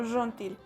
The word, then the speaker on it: gentil: tenemos la palabra gentil y lo vamos a pronunciar como ron til que es más como lo que diríamos una jota en un español pero cuando nosotros tenemos